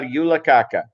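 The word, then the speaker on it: julekake: did i pronounce it right alice did i pronounce it right yeah yula kaka terrible name i did pronounce it right you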